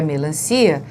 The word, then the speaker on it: melancia: Diferente, não é, do que acontece na melancia, porque a melancia é uma paroxítona, já que o si é a sílaba forte, mas ela termina em A, na vogal A, e não no ditongo como a substância.